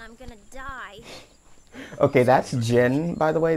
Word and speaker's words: Jin: Okay, that's Jin, by the way. They mispronounced his name to be Jean for some reason.